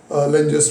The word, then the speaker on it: Lenz: Okay, that is now discussed as Lenge's law. So the next one is Lenge's law, or you also can pronounce it as the Lenz law. So L-E-N-Z, Lenz law.